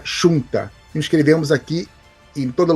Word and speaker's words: junta: Junta falamos assim, os galegos vão falar chunta.